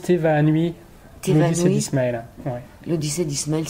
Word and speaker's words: Te Vaanui: Donc ça se prononce Te Vaanui, l'Odyssée d'Ismaël.